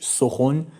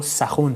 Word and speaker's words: سخن: term 'sokhan' meaning speech or word the correct pronounciation is 'sokhon' or 'sakhon' however, because today it's common to say 'sokhan' I pronounce it as 'sokhan'.